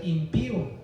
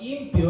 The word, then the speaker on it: impío: otra cosa es ser impío no es impio es impío a veces yo he escuchado verdad que dicen impios pero no es impío con acento en la y y un impío es